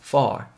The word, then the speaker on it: far: go to, 그리고 far 발음하실 때 par라고만 발음하지 마시고 far, F 사운드.